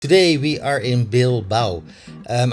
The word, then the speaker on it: Bilbao: Today we are in Bil Bao. Um I keep calling it Bilboa, so do forgive me if I mispronounce it a bit later on in the video.